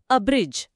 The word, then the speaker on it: abridge: ಬ್ರಿಡ್ಜ್. ಬ್ರಿಡ್ಜ್. ಇದರ ಉಚ್ಚಾರಣೆ ಅಬ್ರಿಡ್ಜ್.